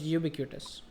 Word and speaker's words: ubiquitous: Yeah, Is that the correct um, pronunciation? I think so. I You be think cautious. the word is ubiquitous.